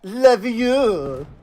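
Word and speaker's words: Leveilleur: Especially Elfino himself being like, my name is Elfino Levieux. Yes, I get it. It's Levieux. I feel like it's that, like, Harry Potter meme, you know? It's Levieux, not Levieux, you know?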